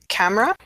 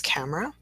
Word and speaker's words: camera: Camera, 2-syllable word as camera, and the alternative was the 3-syllable way, which is camera.